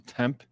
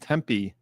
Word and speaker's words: Tempe: Good morning all from commute to temp pronounced Tempe Arizona.